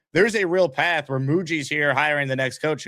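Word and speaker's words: Mougey: He's not muay. He's Muji now. We got it right.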